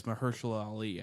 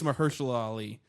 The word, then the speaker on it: Mahershala Ali: It's Mahershala Ali, I think.